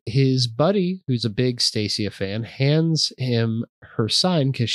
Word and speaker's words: Stacia: So Marry Me is about Stacia, a Britney Spears-esque pop star. This came out in 2007. I called it I was pronouncing it Stasia.